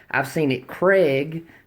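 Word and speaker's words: Krag: gun shows they're uh on the tag they'll say Craig like a man's name c r AIG G I've seen it Craig k r EEG Craig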